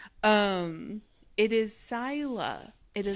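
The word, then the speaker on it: Scylla: But this is Kuribdis and so we are getting introduced to Caribbdus and then I don't know if it's Skila or Skyla.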